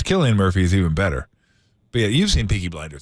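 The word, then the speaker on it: Cillian Murphy: who is uh I always thought it was silly and Murphy by the way it's Killian Murphy I didn't know that until I heard people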